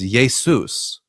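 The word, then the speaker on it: Ἰησοῦς: There's no sh sound in Greek. Um you The closest you can get to it is an s sound with the letter sigma. So, you get iota, eta, um uh sigma, omicron, upsilon, you get Yesou. But in order to make it masculine, it has to end with a sigma the letter sigma. So, it becomes Yesous.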